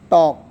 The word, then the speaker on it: talk: For example, talk. When there is ALK, then L is always silent.